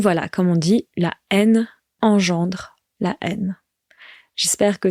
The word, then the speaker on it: haine: Et attention donc, la haine, ça s'écrit H-A-I-N-E, mais on ne prononce pas le H. On dit la haine, the hatred.